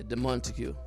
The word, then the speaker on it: Demontague: Yeah, Demontague. Demontague. Yeah, Demontague. Wow, Demontague. I would have never pronounced Demontague.